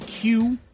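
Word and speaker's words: queue: like that yeah a that word really just the letter Q followed by four silent letters it really is when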